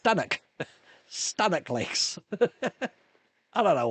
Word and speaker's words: Stanwick: It's spelled Stanwick, Stanwick Lakes. It's not pronounced Stanwick Lakes, it's pronounced Stannock.